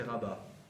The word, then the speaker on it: Rabba: E à la fin, alors que quand c'est Aleph, c'est Rabba, pas accentué.